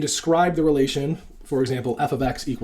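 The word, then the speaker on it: f(x): dependent variable and describe the relation for example F ofx = 2x so this is basically that the Y value here F ofx and then this is the formula that you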